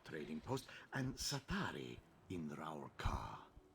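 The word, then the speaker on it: Rawl'kha: Bandari Trading Post, and Satari in Raurka. Ralkar. That's how you pronounce it. I always thought it's Ralkar, but Ralkar.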